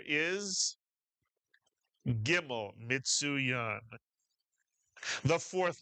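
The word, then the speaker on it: gimel: The name of the letter is gimmel mitsuan.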